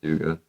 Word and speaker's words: Duga: Duga, I call it Duga. Okay. But it's actually pronounced Duga.